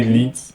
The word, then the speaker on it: lits: Fabriquer des lits. Not leads, but des lits.